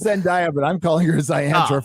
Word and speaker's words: Zendaya: Well, they have Ziandra as Mary Jane, and isn't that enough?